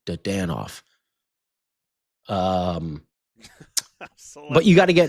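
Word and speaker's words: Dadonov: Dandonoff as well. Dadanoff. I always say it wrong. Dadanoff. I always say Dandonoff instead of Dadanoff.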